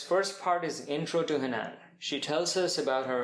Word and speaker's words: Hanan: Hanan. Hanan. But has emphasis on the first. Okay. Yeah. And so in Arabic, the long vowel in my first name is on the second part, but the long vowel